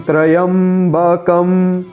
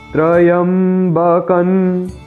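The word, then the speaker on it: त्र्यम्बकम्: वे कहते हैं कि त्रयंबकम। ऐसा नहीं है मित्रों, यहाँ पर अनुस्वार का उच्चारण न होगा, त्रयंबकन इस प्रकार।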